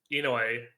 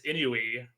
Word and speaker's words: INUI: So, Enoy. Well, Enoy. So, I've been calling it Enoi and I've been telling everyone, all of our broadcasters, I'm like, "Oh, yeah, it's Enoy.